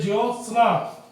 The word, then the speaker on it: ज्योत्सना: अब देखिए ज्योत्सना, ज्योत्सना, ये तो हो गया ज्योत्सना, ये ज्योतिस्ना, ये ज्योत्सना, ये ज्योतिषना। अब उच्चारण है ज्योत्सना, ज्योत्सना, तो स्ना में आधा से बनेगा ना, जल्दी बोला जा रहा है, तो हमारा उत्तर हो जाएगा सी।